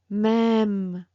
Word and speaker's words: même: So let me tell you, for example, rêve, même. It's like you prolong a little bit more the sound, okay? It's not like rêve, rêve, même.